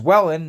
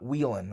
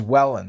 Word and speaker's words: Whelen: And it is WHELEN, not WHELEN. I've gone through and I've gotten the chance to look up and read everything as much as I can on it. It is WHELEN.